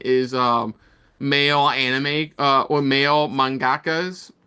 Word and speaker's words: mangakas: Yeah, no, obviously that's a common debate online is male anime or male mangakas. Is that the right term? Mangakas. Manga. You said it right.